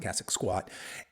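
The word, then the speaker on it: Cossack squat: in your programming and that's a cassic squat so that's spelled c SS a k cic squat cassic squat and really what it is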